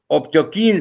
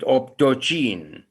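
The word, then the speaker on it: optochin: I would like you to go back to the table and see that these microorganisms are optokine sensitive. Some people, I said, pronounce it optocine, or they are bile soluble.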